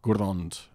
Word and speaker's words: Grond: And if there are less than three syllables overall, then it's always the first syllable is stressed, Amon, Amarth, or Gurrond.